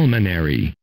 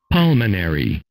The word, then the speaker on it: pulmonary: Pulmonary. Pulmonary. Từ này mình nhớ đọc là pul nha, không đọc là pew nha, không đọc là pew giống như là mình hay thói quen ha. Pulmonary.